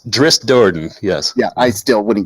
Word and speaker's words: Drizzt Do'Urden: want made I mean I can never pronounce his name right that one I will say that I don't yeah it's Drizzt Do'Urden yes yeah I still wouldn't get it undead